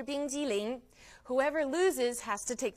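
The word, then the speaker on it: 冰激凌: 冰激凌 is how you say ice cream, 冰激凌.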